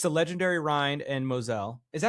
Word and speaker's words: Mosel: it Moselle, but I believe that the Europeans, I've heard my German employers at one time call it the Mosel. The The Mosel. Mosel. Okay. But Mosel.